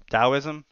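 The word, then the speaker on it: Taoism: I think yeah taism dosm whatever um spelled with a t pronounced with a D I think it was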